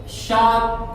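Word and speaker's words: shark: यहां पे देखिए दूसरा वर्ड है शाक, तो आर आपका यहां पे साइलेंट, शाक, शाक, शाक, शाक।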